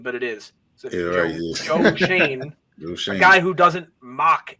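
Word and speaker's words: Joe Schoen: regime now with I still can't believe it's pronounced Joe Shane, but it is. So Joe Shane, a guy who doesn't mock analytics.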